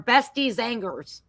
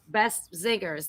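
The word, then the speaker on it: Beste Zangers: it was Best or Bestie Zangers. How do you pronounce it? Best singers. Best Zangers? Best Zingers, like singers.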